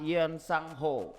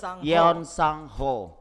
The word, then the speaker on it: Yeon Sang-ho: busan ia yang bernama ion sang-ho yoonho ya benar kasih pengucapannya Yeon sang-ho maklumlah kita Indonesia bukan orang